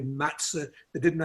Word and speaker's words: matzah: They talked about motze when it should be matzah.